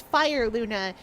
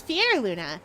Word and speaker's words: Fyerluna: Uh, the number of people that pronounce me as Fire Luna is very high. It is Fier Luna, in case anyone is wondering.